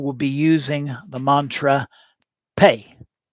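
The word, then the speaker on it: phat: The ritual will be using the mantra pay. Usually spelled p h a t but pronounced pay in its tibetan form.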